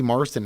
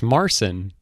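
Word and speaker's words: Marsan: i'm looking it up you keep saying his name wrong i search eddie marston and it's not that it's marcin 5'9 oh is it taller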